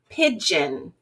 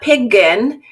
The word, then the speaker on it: pigeon: but then you have something like pigeon pigeon Jen it's not Pig gun right so this is